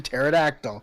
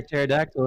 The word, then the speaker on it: pterodactyl: know P as in pterodactyl. Tyrannosaurus. Go to the bathroom. They're going to the bathroom. What? Why can you ever hear pterodactyl in the bathroom? Because the P is silent.